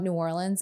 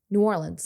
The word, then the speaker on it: New Orleans: New Orleans. Now, how do you say it if you're from New Orleans? New Orleans. No one in New Orleans says.